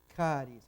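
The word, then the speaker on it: χάρις: Si queremos la pronunciación J, la tenemos en, no anda acá el aparatito, Haris, efectivamente, ahí tenemos la pronunciación de J. Es la que iba a buscar ahora, Haris.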